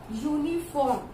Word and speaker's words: uniform: So this is also giving you the pronunciation of Y.